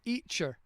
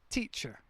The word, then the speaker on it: teacher: They would call me Eacher. And the first few times I thought, what the heck are they on about, Eacher? And it's they don't pronounce the T, teacher.